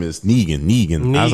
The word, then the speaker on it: Negan: His name is Negan. I was like, I knew it was something like a single syllable. I'm sorry. No, that's 2 syllables.